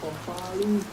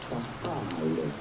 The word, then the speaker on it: farfalle: No, it's not farfalle, but rather farfalle.